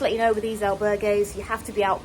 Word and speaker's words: albergue: The albergue that we stayed in, albergue, I've been saying it in French up until this point. Albergue is apparently the correct Spanish pronunciation.